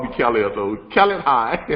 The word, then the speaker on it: Khaled: But it's kind of hard for people to roll that right. tongue underneath that H.